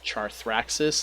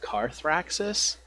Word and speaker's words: Carthraxis: And because I was originally mispronouncing a dragon's name as Charthraxis instead of Carthraxis, he's like, "Don't you speak English?